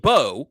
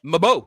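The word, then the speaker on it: Mbow: What if I told you it was actually pronounced Bo, which it is, but spelled M W. N, sorry, MB O W. You think Mabo, that's not correct. It's pronounced Bo but with an M.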